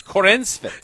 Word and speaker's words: Corenswet: So if you do Google Corn Sweat. Corenswet. It's Corenswet.